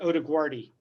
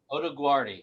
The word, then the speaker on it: Odoguardi: do you pronounce it it's actually odiguardi oda guardi i think i've been mixing up the d and the g so yeah i usually use the uh the laguardia airport analogy so kind of it's